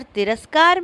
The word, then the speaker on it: तिरस्कार: हैं पहला शब्द बलाघात जब शब्द के उच्चारण में किसी खास वर्ण पर बल दिया जाता है तो उसे शब्द बलाघात कहा जाता है जैसे मंदिर शब्द में दीपक और तिरस्कार में कार पर बलाघात है दूसरा वाक्य बलाघात